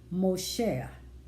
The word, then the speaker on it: Moksha: Then there's something called, another belief they have is called Moshe. And that's spelled Moksha, is when your soul becomes free from the cycle of birth, death, rebirth, It is no longer reincarnated.